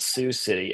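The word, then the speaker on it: Sioux City: That's like um in Iowa there's a city called Sue City. S I O U X like the native tribe.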